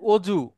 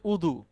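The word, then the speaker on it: وضوء: শব্দটা হচ্ছে হাদির দো আমাদের এই দেশে দটা এসে বর্গীয় জ উচ্চারণ হয়ে যায় অনেক ক্ষেত্রে যেমন অজু অজুতে মূলত দ আমরা বলি ওইটা বর্গীয় জ দিয়ে দিয়ে মূলত আরবিটা শব্দ হচ্ছে উদু এবার আরেকটা শব্দ আমরা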